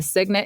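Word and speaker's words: cygnet: I don't know a signant is a baby swan yeah signant is spelled c y g NE T that's interesting question five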